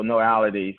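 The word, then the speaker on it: Knowality: trent it's pretty straightforward so no already just the way it's spelled is k-n-o-w like knowledge so k-n-o-w a-l-i-t-y so no ality so it's kind of knowledge plus reality because that was my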